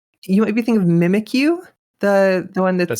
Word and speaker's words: Mimikyu: Mimikyu. I didn't realize that it phonetically is mimic you.